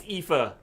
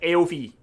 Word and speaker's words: Aoife: It's kind of like Eva, but with an F. Yeah, Ifa.